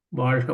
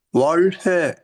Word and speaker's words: வாழ்க: இதனுடைய உட்பொருள், ரகசியார்த்தம் எப்படி இந்த வாழ்த்து பயனாகிறது என்ற கருத்தை சிந்திக்கின்ற போது தமிழ் மொழியின் சிறப்பு ழகரம், ழ என்ற எழுத்தை உச்சரிக்கின்ற போது நுனி நாக்கு மேலெழுத்தை தொடும்.